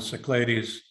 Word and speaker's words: Cyclades: I'll be running a 10-day sale along the Cyclades and you could tell me if I'm pronouncing that correctly c-y-c-l-a-d-e yes that's how you